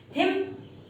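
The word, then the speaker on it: hymn: किसी की बुराई करना, हिम इसका मतलब होता है प्रार्थना या फिर स्रोत। ठीक है, यहाँ पर गाइस जो एन है वो साइलेंट है, इसी वजह से हमने एन को प्रोनाउंशिएट नहीं किया है।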